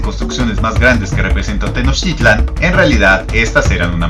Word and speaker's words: Tenochtitlan: del náhuatl es que las palabras en ese idioma tienen el acento fuerte en la penúltima sílaba. Por ello, si lo han notado en videos de este canal, pronuncio Tenochtitlan en lugar de Tenochtitlán, Teotihuacán en vez de Teotihuacán y Aztlán en vez de Aztlán.